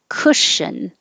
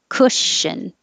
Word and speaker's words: cushion: e responsibility responsibility cushion it's hard for me to represent the uh sound so remember that the vowel is uh as in took and good so don't round your lips cushion i have to round